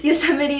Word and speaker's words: Yosemite: first shirt that i got was this use yosemite i don't know why i just messed up that word i literally know how to pronounce it yosemite national park shirt and it is just so